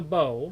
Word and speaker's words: bow: closest to the bow this is the bow it rhymes with toe that's the tip other